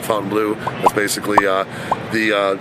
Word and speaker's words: Fontainebleau: guys in front of the Fontaine Blue the fountain blue some people pronounce it one way I pronounce it Fountain Blue that's basically uh the